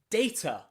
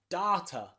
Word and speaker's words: data: You'll see this has 2 A's in it. Data. And many people pronounce it like that with an A and a T, a schwa sound at the end. But there are many other people who argue that is wrong and it should be pronounced data with a long R sound, data.